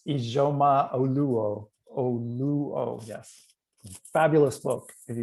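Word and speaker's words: Ijeoma Oluo: Yes, Zora, can you pronounce her name? It's Ijoma Oluo, yes.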